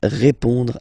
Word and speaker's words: répond: So, final D is not pronounced. You only have this on nasal sound at the end. Répond.